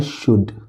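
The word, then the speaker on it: should: एस एच ओ यू एल डी क्या लिखा है? शुड। नहीं। ये लिखा हुआ है शुड। एल साइलेंट है।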